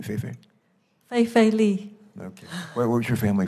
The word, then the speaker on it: Fei-Fei: Lee, how do you pronounce it for your first part of the name, Fei-Fei? Fei-Fei Li.